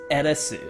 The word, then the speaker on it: Aerith: The correct way to say her name is Eresu.